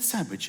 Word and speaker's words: sandwich: There's a D in the middle of the word sandwich is sandwiched, the letter D. It's sandwich. You don't say that. You don't say sandwich. You say sandwich. Sandwich, because it's silent.